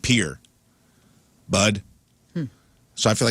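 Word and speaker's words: Pere Marquette: It's not Pierre, but it's Pier Pier. Pier Marquette. It's pronounced like Pier.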